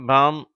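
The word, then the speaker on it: palm: முதல் வரிசை இந்த வார்த்தைகளில் முதல் வார்த்தை காம் என்று உச்சரிக்கப்படுகிறது இரண்டாவது வார்த்தை பாம் என்று உச்சரிக்கப்படுகிறது இவற்றில் எல் என்ற உச்சரிப்பு மறைந்து விடுகிறது அதாவது சைலெண்ட் லெட்டராக ஆகிவிடுகிறது ஆனால் அடுத்து மூன்றாவது வார்த்தையும்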